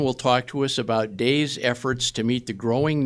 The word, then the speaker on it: DAIS: the organization goes by its acronym d-a-i-s which is pronounced days shannon has worked as